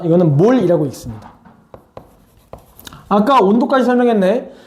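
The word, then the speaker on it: mol: 자, 이거는 몰이라고 읽습니다.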